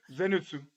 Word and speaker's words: Zenitsu: Zenitsu.